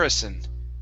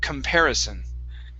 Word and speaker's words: comparison: just mimicked my voice I do say Kum instead of C so it's a CU M sound Kum because the stress is right here comparison comparison okay